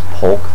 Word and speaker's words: Polk: They kept pronouncing his name Pope, I think, for the announcers, but his name is Polk, the running back.